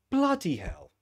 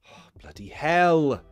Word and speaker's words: bloody hell: on the first one bloody hell bloody hell it could be on hell bloody hell see but it's never on the second syllable it's never on that